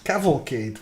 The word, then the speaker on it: Cavalcade: Cavalcade. Yeah. What? Cavalcade. Cavalcade It's literally of calamity. that's For once, you actually have to pronounce it the way it's written.